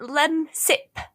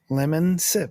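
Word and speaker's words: Lemsip: It's like lem sip. Like lemon and then sip. Lemon sip.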